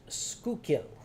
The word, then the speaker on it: Schuylkill: And to the locals, it is pronounced Schuylkill.